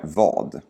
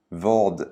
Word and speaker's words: vad: Det första frågeordet är vad. Vad sa du? Vad sa du? Lägg märke till hur vi aldrig uttalar det i frågeordet vad.